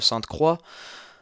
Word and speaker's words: Sainte-Croix: Today we'll analyze the race number 14 that will be held on Circuit de Sainte-Croix, as we would pronounce it in French.